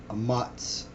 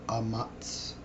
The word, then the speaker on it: Ahmatz: This first word here is Ahmatz, or Ahmatz. Yeah, basically Ahmatz, and then you just, because it's connected, the A at the end is silent, so Ahmatz basically means courage, and it's H553.